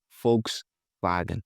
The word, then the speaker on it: Volkswagen: they say folks vag folks vagen. You see the V is pronounced F and the W is pronounced V.